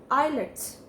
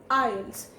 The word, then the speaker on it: IELTS: wrong it is not eyelids it is ielts the t sound in it we have to minimize it and we don't need to emphasize the t sound and it will come as files ielts so let's take the